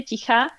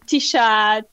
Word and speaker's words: Ticha: So originally it would be Ticha. That's how I would pronounce it in Czech Republic or Slovakia, Ticha. Which actually means silent. They're silent. Oh, right. So Ticha, but Tisha, teacher.